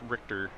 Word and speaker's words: Richter: I believe that's pronounced Richter. I've been calling him Richer, but I think it's Richter is the correct way to pronounce that, based on what I've